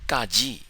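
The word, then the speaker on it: ကကြီး: or kill or cone it's the G sound in Scandal skill or scone it's a g or G pronounced without releasing a puff of a without aspiration one more time it's Kaji for G it's not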